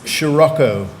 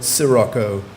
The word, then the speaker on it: sirocco: your new word and it has two pronunciations is Scirocco or Sirocco Scirocco or Soraka Sara